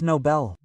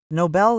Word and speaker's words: Nobel: And pay attention to the pronunciation there. In Sweden, it's Nobel. Nobel is an English pronunciation, but there in Sweden, the language is Swedish, right?